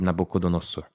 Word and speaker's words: Nabucodonosor: de falar e assim eu já ouvi ser pronunciado como Nabucodonosor Nabucodonosor é outra forma de se pronunciar já ouvi falarem Dos dois jeitos mas eu gosto mais de dizer nabc dosor então eu falo assim